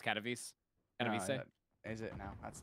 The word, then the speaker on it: Katowice: I've had enough of those fucking Katowice fucking Starbucks. It's pronounced Katowice.